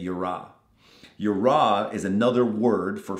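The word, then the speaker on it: יִרְאָה: I think that's how you say it, yira.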